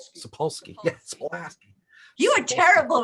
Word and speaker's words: Sapolsky: So the deal is that Sapolsky. Sapolsky. There we go. I can spell it. I think I learned how to say it wrong first before I looked at exactly how it was spelled.